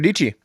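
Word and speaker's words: Dietschy: These all like Oh, Sarah Dici yeah. So rhymes with Beachy.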